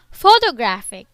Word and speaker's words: photographic: on the second syllable photographic the stress is on the third syllable we use stress to